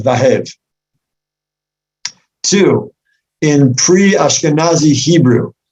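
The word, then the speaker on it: והב: Number one, there's no record anywhere other than this pasuk of a place called Vahev. Two, in pre-Ashkenazi Hebrew, the letter Vav is soft, pronounced more like a W than a Vav.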